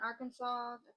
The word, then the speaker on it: Arkansas: fact now Arkansas the spelling of Arkansas is a RK a n s a s which is AR Aran but it must be pronounced for this um law Arkansas all right